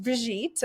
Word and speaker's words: Brigitte: So, and I know you'll probably you might have to go, but just so my name is pronounced Bridget.